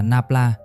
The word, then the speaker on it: nabla: Cái ký hiệu tam giác ngược hồi nãy đọc là nabla, ý nó đúng là vậy đó.